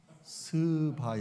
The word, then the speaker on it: 스바: 큰이가 있느니라 여기 남방 여왕은 스바 여왕을 말해요 발음을 잘해야 합니다 스바 여왕 어 제가이 스바 여왕을 커피의 여왕이라고 부르는